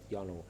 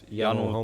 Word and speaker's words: Yanu: I thought Yanu with a J, that is in Estonia. Thirst, right? But the advertising agency pointed out that then it would be pronounced Jano, and it's a bit confusing.